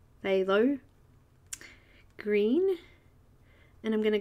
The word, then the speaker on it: phthalo: So I'm going to fill in the light green, or light phthalo, it's a really hard word to pronounce, that one. It's like an F and a TH at the same time, phthalo. Phthalo green, and I'm going